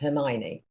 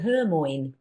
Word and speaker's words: Hermione: series to my son without knowing how he pronounced Hermione and so when they went to the cinema see it Benton ran to his down and said but Dad she's cleared called her mine so she remains her